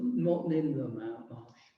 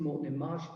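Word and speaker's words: Moreton-in-Marsh: And I was in the Morton in Marsh Young Farms Club. Remember, that's how you pronounce it. It's not Morton in the Marsh. It's Morton in Marsh and in East Gloucestershire.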